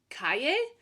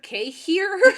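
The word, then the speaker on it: cahier: who whose company is Caye I how do you I I feel like you have to pronounce it in the French way right Cay there's no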